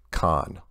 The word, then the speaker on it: Kagan: Sargent my name is Kagan pronounced con con which part is pronounced